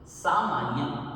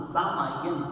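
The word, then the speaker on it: सामाइयं: आप देखिए, करेली भंते सामायन, यहाँ मिस्टेक होती है ज़्यादातर, इसे समायन बोलते हैं कुछ लोग, लेकिन ये समायन नहीं है, सामायन।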